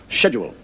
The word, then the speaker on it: schedule: I was having a kind of altercation with an American regarding the word schedule. And he said to me, the word is not schedule, it's schedule. S-C-H as sk, not sh.